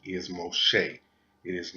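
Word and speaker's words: מֹשֶׁה: these books was groped by a man named Moses now what I have here is his Hebrew name and the correct pronunciation is most Shea it is not Moses and most people think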